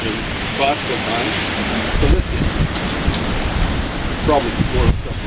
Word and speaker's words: Cilicia: And actually the Romans would have called it Cilicia or something like that. They didn't pronounce CIs and CEs like we do, like an S. They pronounced it like a hard K.